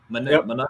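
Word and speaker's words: Monangai: Munungai?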